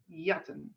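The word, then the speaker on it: jatten: t e n and the j is pronounced ye yatan so yatan is to steal comes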